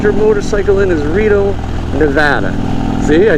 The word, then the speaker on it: Nevada: They say the safest city to ride your motorcycle in is Reno, Nevada.